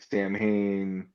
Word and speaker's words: Samhain: So you got a Boogeyman impression out of me, and talking about Sam Hain freaking Sam people Hain out. also, yeah. It's pronounced Yeah, Samhain.